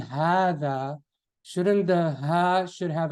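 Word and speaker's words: هذا: In the Mus'haf, you will see like a standing alif written on it, right? So you know to make it longer. Hada, okay?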